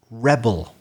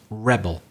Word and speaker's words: rebel: obeys orders he's a rebel rebel but it could be a verb in that case of course we'll have to stress the second syllable for example the separatist